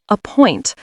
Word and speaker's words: appoint: A point stresses the second. Appoint.